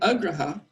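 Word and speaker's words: agraha: for the proper reason name Agra ha with a short a in the middle that's neglecting rules and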